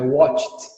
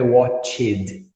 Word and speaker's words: watched: assim, tu nunca vai pronunciar o E no final dos verbos regulares, tá, pessoal? Eu assisti, I watched, e não I watched. I walked, não, I walked.